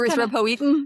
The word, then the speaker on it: Erythropoietin: And so my brain just Erythropoietin? Yeah. Because it rhymes with Will Wheaton. Yeah. Sorry. Will Wheaton. Erythropoietin.